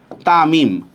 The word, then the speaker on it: তামিম: লেখেন তাহলে বুঝতে পারবেন দেখেন তামিম দেখেন তর মধ্যে একটা আকার উচ্চারণ আছে এম এর মধ্যে একটা আই এর উচ্চারণ আছে লাস্টের এম এর মধ্যে কোন উচ্চারণ নাই তাহলে আমি যখন এটার